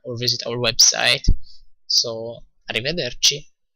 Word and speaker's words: arrivederci: say : "arrivederci" again "arrivederci" - arri - veder - chi again the "ci" is like "ch" in English so chi, and if you want